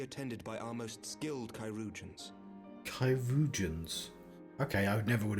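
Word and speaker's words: chirurgeons: she will be attended by our most skilled kyans kyans okay I never would have figured out that pronunciation cusions bear mistress leer to the infirmary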